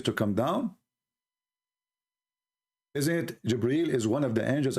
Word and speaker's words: Jibreel: It's not Gabriel, by the way, it's Jibreel. Even Muhammad, he got the name wrong.